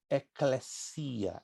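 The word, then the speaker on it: ekklesia: Vem do termo grego eclesia. Eclesia se escreve dois Ks, L-E-S-I, acento agudo no I, A. Eclesia, é uma palavra grega, que quer dizer chamados para fora.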